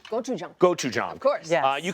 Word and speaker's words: gochujang: This is gochujang.